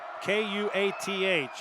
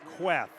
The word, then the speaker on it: Kuath: Talked with Kirk Queth after the game, and his name is spelled K-U-A-T-H, and he told me, he said, it's not like it's spelled. It's not Kuath. It's like an E, Queth.